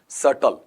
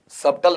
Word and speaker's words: subtle: क्या पढ़ा जाता है आपका वहां पर? सटल। सबटल नहीं होता है, सटल ऐसा।